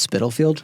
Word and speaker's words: Spitalfield: How do you say Spitalfield? You said it right. I said it wrong. What were you saying? Spitalfield. It's Spitalfield? Yeah. Yeah. You gotta have the spit in it.